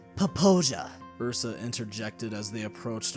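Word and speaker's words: Popo Agie: Popo Aggie Wilderness? Logan answered. It is pronounced Poposia.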